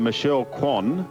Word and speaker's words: Michelle Kwan: Brucey, just in closing, you might be interested to know, if ever you call it, that Michelle Kwan, that is how it's pronounced, has a brother, Ron.